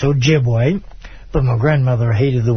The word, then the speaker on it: Ojibwe: I'm 25% Ojibwa, as most people on my show know. And in English, it's pronounced Ojibwe.